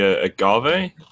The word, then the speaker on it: agave: Yeah, I'm not sure how you pronounce it. The agave, is that?